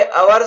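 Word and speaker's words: hour: पहले ए उसे होगा ओवर में एस साइलेंट है और वॉवेल साउंड इसलिए अवर से पहले एन उसे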